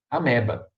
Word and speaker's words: amoeba: né mas é amoeba se escreve amoeba mas a leitura é a merda é merda olha tem onde ir ameba beleza a única coisa